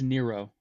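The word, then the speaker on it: Nyro: Yeah, it's a cover I think it's a drawn cover of Laura uh how do you say Nero Nairo? It's Nero.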